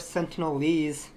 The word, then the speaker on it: Sentinelese: So we got the North Sentinelese people. I think I pronounced it right.